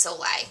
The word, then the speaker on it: Soleil: I think someone wrote on my thing that I was pronouncing it wrong. It's Soleil, so I apologize.